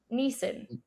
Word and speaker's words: Nissan: He pronounces Nissan like three different ways in the movie. He pronounces really it, yeah. In like one of the first well. ways he pronounces it, he calls it Nissan, and then Nisa, he oh. and then he settles into Neeson. Nissan is the way that a lot of British people tend to pronounce.